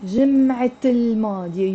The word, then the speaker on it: جمعة الماضية: You're pronouncing the T مربوطة. جمعة الماضية. You see this T here? I'm pronouncing it. جمعة with the L. جمعة الماضية. But if I put L to جمعة, I'm not going to say الجمعة الماضية. No, it becomes, this T becomes silent and it becomes الجمعة الماضية.